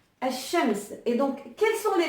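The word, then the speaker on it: الشمس: Et soleil, en arabe, ça se dit Al-Shams. Al-Shams.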